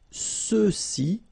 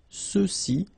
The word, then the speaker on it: ceux-ci: And then for the masculine plural, ceux-ci, okay, remember final X is not pronounced, so you get the sound ce, ceux-ci, and then ceux-là.